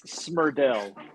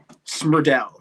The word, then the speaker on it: Smrdel: it's Smrdel. Smrdel. Okay. Yeah, almost like there would be U between the M and the R.